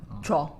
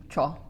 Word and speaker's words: 줘: This has to be one syllable. 줘. 줘.